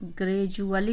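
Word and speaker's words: gradually: ग्रेजुअली उच्चारण है, जब भी डी के बाद यू आ जाती है तो यू की वजह से इसका उच्चारण डी यू का डू नहीं होता है, जू हो जाता है।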